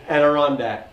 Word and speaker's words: Adirondack: Adirondack.